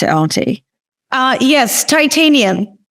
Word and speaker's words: Titaniam: Yes, Titaniam. Very much like the metal.